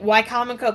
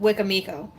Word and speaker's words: Wicomico: Like Wicomico County. Wicomico County is a county in eastern Maryland, nearest the seashore. And she pronounces it Wicamico.